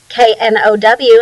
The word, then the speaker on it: know: And then we add that K in front, that's silent, KNO, and of course the W, KNOW, and it means knowledge, you understand something.